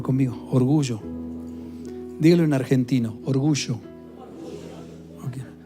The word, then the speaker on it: orgullo: No tan pronunciada, no, así. Orgullo. Porque ustedes dicen orgullo y cuando quieren decir orgullo, dicen orgullo. No, orgullo. Así es. Normalita que se hace la Y de yuca.